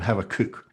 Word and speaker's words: Habakkuk: And I'm going to persist in calling him Habakkuk, which is the Hebrew pronunciation, because I just find it easier to say.